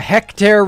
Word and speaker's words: hectare: Yeah, hectare rejectare. Ooh, that's good, Canosaurus. That's good. Hectare rejectare. Hector rejector. I know it's pronounced hectare, and rejector is not pronounced rejectare.